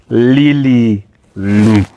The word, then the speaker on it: Lilly Lou: Lilly Lou. Yes, you pronounced it right. Good for you. Good. Good. He does hesitating, but Well done. yes. Yeah. Lilly Lou.